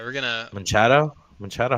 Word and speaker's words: Machado: All right, we're gonna Machado. Machado. How do you say his name? Machado. Machado. Like uh kind of like Machamp, but Machado.